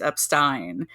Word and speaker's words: Epstein: remember the proper pronunciation if you do a little song Association in this case Turn The Beatles I'm Me Mine into my my name's up Stein okay little background if